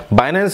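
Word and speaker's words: Binance: आपका नाम आता है बाइनेंस आपने सुना होगा किसी को कहने में आता है कि बनांस कोई बाइनेंस तो दोनों प्रोनाउंस का सिर्फ अंतर है नाम सब एक ही है जो मैं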